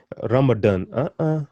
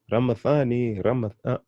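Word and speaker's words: Ramadhani: That's why people say Ramadan. No. Ramathan, Ramathani, there's no Ramadan, but Ramathani.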